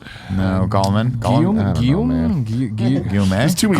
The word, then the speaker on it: Guillaume: Robert Goulet. No, Gallman. Guillaume. Guillaume.